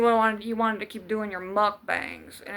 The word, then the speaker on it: mukbang: You wanted You wanted to keep doing your mukbangs. And it's not mukbang. It's mukbang. That's how it's pronounced.